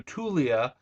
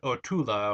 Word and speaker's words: Tula: in atlantis we see the new tulia for uh ortula or however you want to pronounce the name i think it's tula who was the original